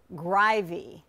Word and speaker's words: Greiwe: top of the show so allow me craig grivy correct yes and i make it